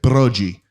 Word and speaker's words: Broggi: So, my grandfather, when we came through Ellis Island, they pronounced it Broggi, Italiano.